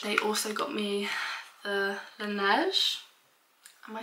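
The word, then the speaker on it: Laneige: also got me the Lanette am I saying it right now I said it on Tik Tok the other day and I said like Luni and everyone was taking the Meck out of me it's because so many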